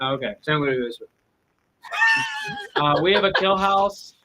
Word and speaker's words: San Luis Obispo: If you just mumble it, but say kind of the right things, that's the right way to say it. Okay. San Luis Obispo.